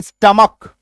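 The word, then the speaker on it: stomach: इसका एक एक्सेप्शन है स्टमक।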